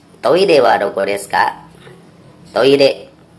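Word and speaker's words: トイレ: Toire adalah kata serapan dari kata toilet dari bahasa Inggris, dibaca toire. Ejaannya toire, tapi pengucapan R jangan terlalu tegas. Ini lebih pada kombinasi antara L dan T, atau kalau dalam ejaan bahasa Indonesia mungkin ditulis sebagai TH.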